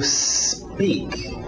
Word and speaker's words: speak: To speak. To speak. Cuidado com essa pronúncia. A tendência desse S antes do P, quem fala português, é querer colocar uma vogal de apoio, dizer to speak, porque